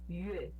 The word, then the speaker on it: 月: Só essa parte do yue, pronunciar yue, Yue. yue. E O U ele é mais próximo do I do que o U de verdade. É quando você fecha mais a boca pra falar.